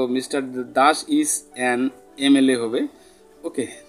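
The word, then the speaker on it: MLA: গুলি আলোচনা করব তো mister Das ইজ এন এমএল এ হবে ওকে তো এমএল এর আগে আমরা কি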